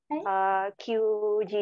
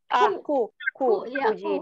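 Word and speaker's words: くじ: Shichiji kara kyuji desu. Bukan Q. Apa? Kuji desu. Kuji made. Coba ulangi. Shichiji kara kuji made desu.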